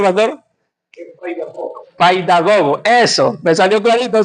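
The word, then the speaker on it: παιδαγωγός: ¿Cómo se pronuncia, pastor? Paidagogo.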